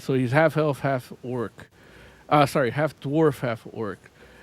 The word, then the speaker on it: D'Orc: So it's pronounced orc. All right. There's an apostrophe after the D, and the D is silent.